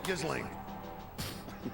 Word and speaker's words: Ghislaine: It's Ghislaine. Do you know? Look at me. No, I don't. Ghislaine?